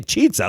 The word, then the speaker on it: chizza: I would say chizza, like pizza.